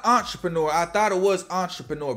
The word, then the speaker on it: Entrapreneur: It's Entrapreneur. Like trap? I think that's what he's supposed to say. Like Entrapreneur, like he's trapping.